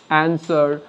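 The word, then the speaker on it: answer: একইভাবে ডাব্লিউ এখানে আমরা দেখছি যে নীরব রয়েছে বা চুপ রয়েছে, সুতরাং এটাকে বাদ দিয়ে আমরা উচ্চারিত করব অ্যান্সার, সোল্ড, এখানে রাইট, এখানে রং, ডাব্লিউটা এখানে সাইলেন্ট থাকবে।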